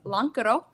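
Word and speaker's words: lonkero: Ours is the least lazy um because lancero is how you say it in Finnish, but we changed the ke to ca to represent where we're from.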